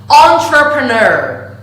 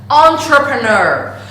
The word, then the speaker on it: entrepreneur: And the correct pronunciation is to start the pronunciation of this word with the syllable on.